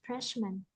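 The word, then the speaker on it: freshmen: freshman freshman freshman uh for the plural plural form we also pronounce freshman not man freshman.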